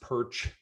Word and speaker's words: Pyrcz: worked with me before it's pronounced perch if you say it like that that's as well as i say it i've met ukrainians and